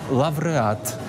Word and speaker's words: лавреат: Новий правопис пропонує і писати, і вимовляти так, як це було до 1928 року. Фавна, а не фауна, наприклад, так? Або, наприклад, лавреат, павза.